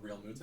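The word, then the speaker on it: Realmuto: Real Muto?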